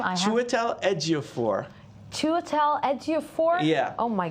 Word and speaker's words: Chiwetel Ejiofor: Actually, my money is on Chiwetel Ejiofor.